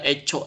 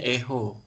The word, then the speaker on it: echo: lakukan itu ada Eco itu bukan Eco ecoopet bacanya bukan ya bacanya Echo gitu ya Echo manis dikit kan Nah ini ada